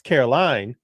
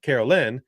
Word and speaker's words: Caroline: It's Caroline, not Carolyn. It's Caroline. Yeah, I'm gonna pee.